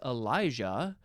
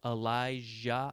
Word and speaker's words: Elijah: think it's possible that the Y sometimes is pronounced as like a j sound Elijah elah Elijah so that's